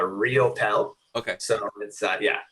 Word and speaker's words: Riopelle: last name so uh my last name is pronounced uh real pel okay so inside yeah